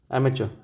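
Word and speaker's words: amateur: अमेचर लिख देता हूँ इसको भी, एमेचर, एम चर, CHER, ये प्रोनाउंसिएशन है, आप इसको एमेचर, एमेचर, ठीक है।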